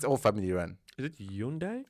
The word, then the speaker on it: Hyundai: the whatever it's all family Run is it Hundai it's Hyundai Hyundai it's Hundai it is it pronunciation trying to sound a bit more Korean